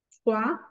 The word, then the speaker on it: froid: Toujours O-I va a ser WA. Toujours la combinaison de voyelles O-I, toujours WA. Es por eso que decimos froid. La última letra no se pronuncia.